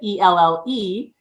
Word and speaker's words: Elle: And I said, why don't you just spell it ELLE? And so that's how it kind of came, but it's actually like the letter L, right?